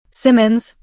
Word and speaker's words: Simmons: Simmons. Emphasis on the first syllable.